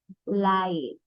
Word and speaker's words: light: are you foll so G and H here is silent and I becomes I